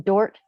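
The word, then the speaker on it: Dordt: graduated with a bachelor's of social work from dort university did i pronounce that right well yes great yeah university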